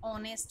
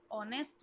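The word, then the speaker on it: honest: ऐसी एन ऑनेस्ट man, just like that. यहाँ पर भी एच जो है वो साइलेंट लेटर है, इसीलिए इसको ऑनेस्ट मैन बोला है.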